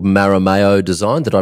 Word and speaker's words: Marameo: of things for them uh the agency's called maramayo design did i pronounce that right right yeah design m-a-r-a-m-e-o and